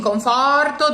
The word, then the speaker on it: conforto: In conforto, the tonic is the far and it's open, but the final O, since it's weak, cannot be opened. It's always closed. Chi conforto mi darà.